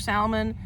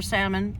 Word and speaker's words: salmon: types of breads, smoked salmon, and then, or salmon, I said it wrong, and we have herring.